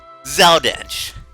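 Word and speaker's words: Zell Dincht: But first, Zeldinch. That's how you pronounce it. I always pronounce it Zeldink.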